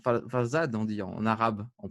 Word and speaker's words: Farzad: C'est Farzad, c'est ça? Mm. On dit Farzad, on dit en arabe, en prononciation.